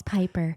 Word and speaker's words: Piper: My name's Piper. Rhymes with Viper.